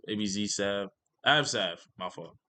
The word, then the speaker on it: Abzsav: I know you guys like my backstory of I think it was ABC Sav, ABZ Sav, abzsav. My fault. Said his name wrong.